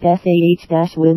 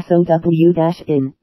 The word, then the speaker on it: Samhain: Samhain, pronounced sah-win or sow-in, was the first and most